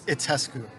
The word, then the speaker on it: Itescu: It's Itescu. It's a It's Romanian Itescu. last name.